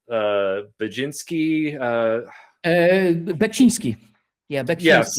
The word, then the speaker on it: Beksiński: I know you mentioned, I'm going to butcher his name because I can't pronounce it. Because you mentioned him before. It's Baczynski. Beksiński. Yeah, Yes, Beksiński, the painter.